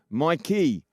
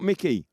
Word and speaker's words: Mikey: Sorry, Mikey Vila, not Mickey.